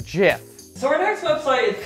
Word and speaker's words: GIF: it's an art website we got some cool gifts here gif jiff whichever camp you landed on that one it's jeff it's pronounced jiff so our next website is kind of like